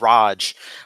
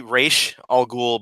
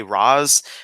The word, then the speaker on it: Ra's al Ghul: to bring up because Omar said Raj. Well, it's like as if his name is Roger. So I'm just gonna Roger al Ghul. Yeah, Roger. He's my next door neighbor, Mr. Rogers. But it's supposed to be Ra's al Ghul, but also a lot of... How did Dennis O'Neil say it? I don't know how he specifically said it, but I just know that there's a lot of official things that say Raz, and there's a lot that it's...